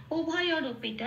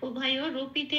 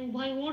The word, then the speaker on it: উভয়রূপী: এখানে উভয় ওর বলতে পারবো না, উভয় রপি, রকে র বলে উচ্চারণ করতে হবে, উভয় রপি।